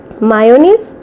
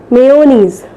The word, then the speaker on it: mayonnaise: Mayonnaise? No, the correct pronunciation is mayonnaise.